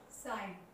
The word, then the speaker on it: sign: Before N एच जी always silent. Words are sign, SIGN, here Z.